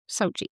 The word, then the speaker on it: Sochi: Sochi.